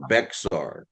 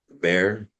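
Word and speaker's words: Bexar: Bear. Just like a bear, like a grizzly bear.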